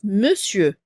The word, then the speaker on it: monsieur: derniers mot ça s'écrit monsieur mais ça se prononce monsieur d'accord c'est un peu spécial ce mot et